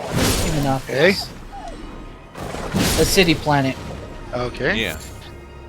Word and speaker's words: Ecumenopolis: Ecumenopolis, that's how you pronounce it. Ecumenopolis.